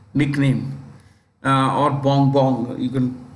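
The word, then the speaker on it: Bongbong: That's his what we say nickname, or Bong Bong. You can pronounce it as Ferdinand Bong Bong Marcos Jr.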